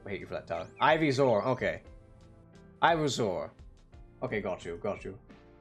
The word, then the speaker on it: Ivysaur: Ivusur? Ivusur. I have no fucking clue how to pronounce that. Them do the bonk. Oh, okay. Well, there you go. I still hate you for that, Tyler. Ivysaur.